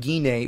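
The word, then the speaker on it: Gine: chapter where Bartok and guinea or Jeannie whichever way you want to pronounce her name the mother and father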